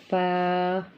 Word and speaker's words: ف: حرف فا ادا ہوگا۔ pronounced from the edges of the top two front teeth touching the inside part wet part of the lower lip۔ اس کے بعد حرف